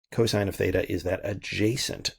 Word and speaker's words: cosine: coine of theta but we just write it cos theta but we say cosine of theta cosine of theta is that